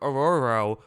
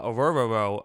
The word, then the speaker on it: Orhorhoro: at this point uh it's a difficult name to say ruk aoro uh aoro I believe is how you say it that's what uh it